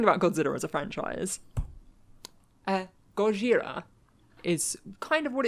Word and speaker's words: Gojira: And talking about Godzilla as a franchise, Gojira is kind of what it's known as in Japan. Created in 1954. Surprisingly. The word Gojira, or Godzilla, we're going to call it Godzilla